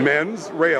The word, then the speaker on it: mens rea: Mens rea, like more than one guy.